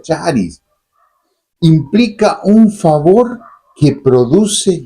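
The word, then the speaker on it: χάρις: La gracia de Dios, que en el griego significa charis, o se pronuncia charis, implica un favor que produce gozo.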